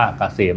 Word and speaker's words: เกษม: แอด นำ หน้า นะ K SCM อ่าน ว่า เกษม นะ ครับ สำหรับ ท่าน